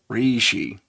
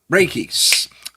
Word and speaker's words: reiki: about, uh, re uh, Reishi, energy healing, that type of thing. Raiki, thank you. I spelled it correctly, too, but I couldn't pronounce it correctly.